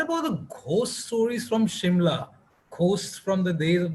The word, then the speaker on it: Shimla: So the S is normally pronounced as a sh. Uh, so Simla was always pronounced locally by the local people as Shimla.